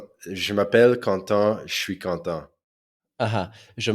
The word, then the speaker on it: Quentin: There they pronounce it Quentin. Correct. Yeah, yeah, Quentin. exactly. Which is also how you say content, like happy, right?